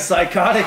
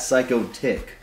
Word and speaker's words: Psychotic: So, Psychotic. Psychotic. Not psycho tick.